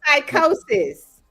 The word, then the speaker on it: psychosis: Spell psychosis. No, tick The for P is silent.